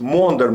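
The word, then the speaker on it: Maunder: speaks about this thing which is called in English monder minimum Monday minimum but as Russian as a Russian she pronounced this pronounces as mounder minimum but the correct form is modern minimum but the English can't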